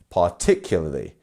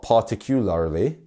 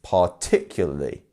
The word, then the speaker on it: particularly: amount of interest um so our second part our second syllable here is our stressed one so if you want to try and say it I will repeat after you actually this time yeah particularly not particularly it's particularly particular try and get that